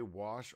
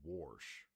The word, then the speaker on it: wash: Wait, do you say wash or warsh? Which I know some people actually say warsh. I say wash cuz I'm a I'm literate.